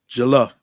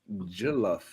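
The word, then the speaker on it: jollof: I'm sorry bro how how do you pronounce the rice again I want to get my pronounce yes correct galof galof yeah galof price Oh I thought it was J yeah you know he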